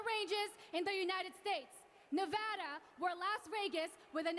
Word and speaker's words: Nevada: state nevada welcome to nevada and just to be clear it's pronounced nevada not nevada the silver state the